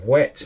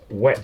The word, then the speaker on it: whet: called a whetstone and it's spelled v w/h ET and wet means to sharpen so it doesn't matter whether it's wet or dry it's still a wet stone the Stivers that's natural